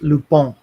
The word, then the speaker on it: Lupin: Zach Richmond says it's pronounced Lupin.